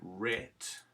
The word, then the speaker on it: write: then right becomes writing now right has a silent w at the beginning of it so we want to write rit and then in if